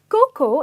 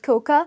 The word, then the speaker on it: cocoa: remember never call it coca because the pronunciation is Coco and the a is silent moving on we have